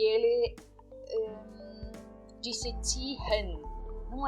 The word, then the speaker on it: ziehen: Nós usamos elas nas seguintes palavras: ziehen, ziehen. Percebam como eu estou pronunciando essa palavra. Ziehen. Eu não estou pronunciando o H aqui. Ziehen. Apenas o I.